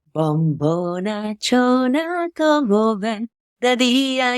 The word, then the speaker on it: Bombonachoona: that would be Bombo, like B-O-M-B-O, Okay. Bombo. Bombo. And then Nachona, like Nacho, Nacho? Yeah. Like that? Bombonachoona.